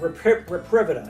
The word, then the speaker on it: Reprivida: So George, Trip Hardy is the CEO of Reprivida. It's kind of like Reprivate, but they pronounce it Reprivida.